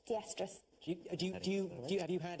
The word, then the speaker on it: estrus: is not the iest are us and it's pronounced estrus you you have you had a recent period